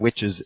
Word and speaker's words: Wytches: Yeah, it's by the way, it's Witches with a Y instead of an I.